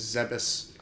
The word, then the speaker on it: Zebes: Unfortunately, I think the correct pronunciation is Zebes, which isn't as creepy.